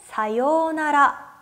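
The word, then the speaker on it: さようなら: 외래 오기 때문에 가타카나 로 표기가 되었어요 마지막으로 사요나라 내 여기서 4 유우 요 라고 하는 발음 아까 오하이오 라고 했던 것처럼 마찬가지로 길게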